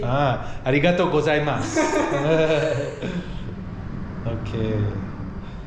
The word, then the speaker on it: arigato: Arigato. Arigato. Arigato. And thank you very much. Thank you very much. Arigato gozaimasu. Yeah, I heard people saying arigato gozaimasu? Go. Go. Like with a G. G. Ah, arigato gozaimasu.